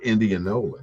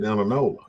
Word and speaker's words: Indianola: the Indianola paper and that's how you really pronounce it Indianola that's what but we grew up calling it Inola and that's what it really is to me it's still Inola even though I I